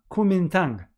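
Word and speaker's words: Kuomintang: and spontaneously political party was formed called kumintang kumintang okay that's how it's pronounced i before i came here to do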